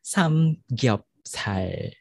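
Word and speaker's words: 삼겹살: So each syllable doon sa samgyupsal maps to one character, di ba? Three syllables. Samgyupsal, tas 1, 2, 3.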